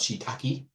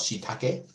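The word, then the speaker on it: shiitake: think probably everybody knows you might call it shaki but from now on you're going to call it shake because you know that's how it's said this is len edes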